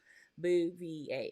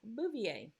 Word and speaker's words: Bouvier: jacqueline on nasus kennedy she was a bouvier before she married uh the kennedys so yeah boo v8 i hope you can get it so anyway um that's how you pronounce my name tish bouvier so anyway um i